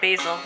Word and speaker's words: Basil: How come in America nobody's named Basil, or Basil, as we say it here?